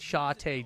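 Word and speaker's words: Shatay: So it's like a T-A-Y instead of T-A-I.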